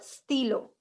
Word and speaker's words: stylo: Okay, in French, whenever there is we, there's 50 and 60% of chances that you will pronounce it as I. Okay, how do we pronounce I in French? Ash. Sorry, E. Okay. Okay, how do we pronounce I in French? E. Très bien. So we will most of the time pronounce it as E, d'accord? So it will be sti. Okay, this one is acting as an E, d'accord?